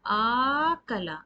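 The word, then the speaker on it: أَكَلَ: So it's equal to, now when alif is prolonged, there is a mad. It means it has two counts. Its sound is elongated. So akala. So when you pronounce it, you will say akala.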